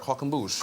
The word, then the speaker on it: croquembouche: I attempted a croquembouche 2 weeks ago. Am I saying it right? Croquembouche. Croquembouche, yes. Croquembouche.